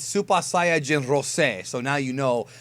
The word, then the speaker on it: Saiyajin: It's actually pronounced Super Saiyan Rose. Oh, it might be Super Saiyan Rose when they dub it, but it's Super Saiyajin Rose.